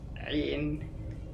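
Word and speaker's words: عين: Now, I think this is the hardest letter for non-Arabs to pronounce. It's way down here in your throat and it moves a lot when you make the sound, like it's kind of like a retching sound.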